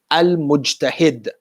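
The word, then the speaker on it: المجتهد: Another letter, mim. If you add alif lam to the letter mim, how do you pronounce it? Al-mujtahid.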